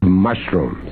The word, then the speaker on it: mushrooms: or mushrooms mushrooms mushrooms mushrooms now that's the proper way of pronouncing it mushrooms I love mushrooms